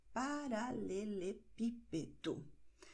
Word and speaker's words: paralelepípedo: Und hier haben wir acento. Und sehen wir acento, betonen wir automatisch.